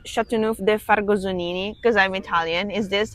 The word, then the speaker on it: Châteauneuf-du-Fargoson: I am pronouncing Châteauneuf-du-Fargosonini because I'm Italian.